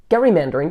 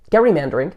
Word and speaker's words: gerrymandering: name has stuck and the term which most people Now Pronounce with the soft G has come to represent any political manipulation of District borders Gary mandering is a well-known political